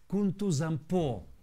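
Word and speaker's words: Kuntuzangpo: Buddha in Tibetan language, is pronounced as Kuntuzampo and is translated as everything is good.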